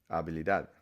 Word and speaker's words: habilidad: Ability, again, there's a silent H here. You don't need to pronounce it. So act as if it's spelled the same way. Habilidad, ability.